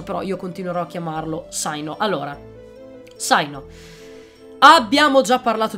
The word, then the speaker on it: Cyno: da associarlo al cane poi sicuramente la pronuncia corretta non è sai no sai non è proprio americana all'ennesima potenza come pronuncia Però io continuerò a chiamarlo zaino Allora zaino abbiamo già